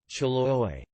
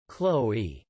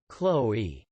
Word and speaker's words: Chloé: How do you pronounce this brand? Chaloye. No, it's wrong. The right pronunciation is Chloé. Chloé.